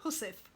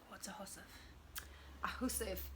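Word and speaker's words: hussif: into a a little hussef hussef is um a little kit for your needles you're you're sewing your your your it's spelled h-u-s like housewife it's like Old English or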